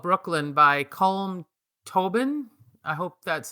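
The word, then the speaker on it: Colm Tóibín: And the novel I finished this morning is called Brooklyn by Colm Tobin.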